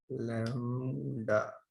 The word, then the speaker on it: lambda: लैम्डा बोलते हैं, इस तरह से प्रोनाउंस करते हैं इसको, है ना।